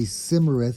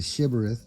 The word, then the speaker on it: Shibboleth: among them and if they say simarets instead of shivereth off with your head